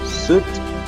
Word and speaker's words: suit: Amigo sería friend, traje sería suit y fruta sería fruit, ok, entonces esa ahí no suena, entonces tengo friend, suit y fruit, ¿sí?